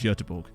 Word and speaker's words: Göteborg: Big fan of the fact that Russell actually pronounced that as Göteborg.